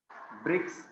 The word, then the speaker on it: BRICS: Country से ही है, तो इसको मिला के पढ़ते आप, ब्रिक्स बोल के पढ़ते हैं, इसको BRICS नहीं पढ़ते, इसको SARC नहीं पढ़ते, इसको हम मिला के प्रोनाउंस करेंगे नासा, इसको हम मिला के पढ़ेंगे सार्क, इसको मिला के पढ़ेंगे ब्रिक्स। तो ऐसे जो आप एक